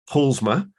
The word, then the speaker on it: Paulusma: a Polly and I've just checked how to pronounce her surname and it's PMA so you uh you basically uh leave out